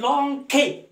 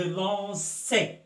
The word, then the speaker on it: lançais: Le C devant A se prononce K. Hein? Alors, je lanquais. Alors, je dois ajouter quelque chose pour prononcer C. Alors je lançais, j'ajoute la cédille, ou bien la cédille. Alors là, je lis, je lançais.